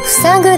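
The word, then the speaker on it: 塞ぐ: 正解は塞ぐです。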